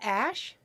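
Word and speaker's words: Æ: x the unknown variable um what's it called ash is that what it is the ae thing that's how they said to pronounce it from elon musk himself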